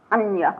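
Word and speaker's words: hannya: And the pranya paramita, which we know as a hanya paramita, which is the Japanese way of pronouncing this Indian thing.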